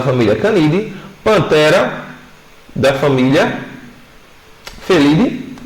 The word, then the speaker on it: Felidae: Então eu tenho Felidae, a galera chama Felidae, mas a gente sabe que no latim a gente não pronuncia lá, né?